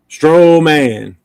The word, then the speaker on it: Strowman: Strowman.